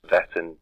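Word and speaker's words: Wettin: saak coob Goa belongs to the house of pronounced veton but it's a spelled w e t i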